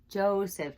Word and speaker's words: Joseph: It has no consonant next to it in that syllable. So it says its name, so it's long. And then the last one, Joseph. Joseph, Jesus' earthly father.